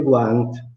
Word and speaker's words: guant: In milanese guanto si scrive guant, no? Ma si pronuncia anche guant, no? Guant, no? Quindi la U torna, è perché è preceduta dalla consonante G e da un'altra vocale, dalla A, no?